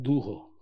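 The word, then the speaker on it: duho: de las Casas que le llamaban dujo con la primera la primera sílaba fuerte y son bajitos.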